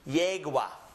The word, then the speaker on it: yegua: beginning of a word, it will always have a Y sound, just as it is in English. So this word is pronounced ayer. Read it with me. Ayer. The second one is pronounced yegua.